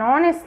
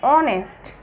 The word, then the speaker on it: honest: our h is silent and honest h is silent here and m a m